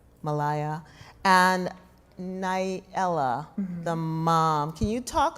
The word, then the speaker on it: Nyela: crafting that character, and I pronounce her name Nailah, but Nailah, okay. I think, I'm not sure which one is sort of most correct from the Swahili, but, I really was